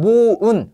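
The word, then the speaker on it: moan: 하늘나라 슬퍼하다 애도하다 자 요것은 모운이에요 오후 발음 모운 그래서 신음하다 불평하다 합니다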